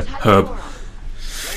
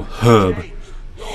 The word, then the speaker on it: herb: I don't know why some people think the H is silent.